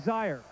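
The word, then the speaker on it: Zeier: Your impressions of the game and particularly Eric Zire. It rhymes with fire.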